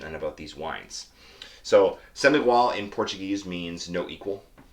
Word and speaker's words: Sem Igual: about this region and about these wines so semi wall in portuguese means no equal it's a play on the pronunciation of the number 100 as well which